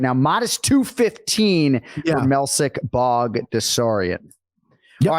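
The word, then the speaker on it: Melsik Baghdasaryan: I'm going to go Melsik Bagdasaryan.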